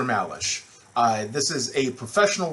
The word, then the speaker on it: Malesh: syllabus and you're wondering how do i pronounce that don't worry about it it's just dr malash uh this is a